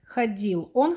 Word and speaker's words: ходило: Again, we put away this t, and it comes out like ходил. Он ходил. Она ходила. Оно ходило. Again, we pronounce a, but spelled with o for neuter.